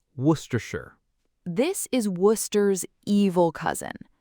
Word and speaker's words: Worcestershire: Okay, word 8, Worcestershire. This is Worcester's evil cousin. It's so long. Worcestershire. W-O-R-C-E-S-T-E-R-S-H-I-R-E. But we just say Worcestershire. Worcestershire. Start with Worcester, Worcester, and then add shire, Worcestershire.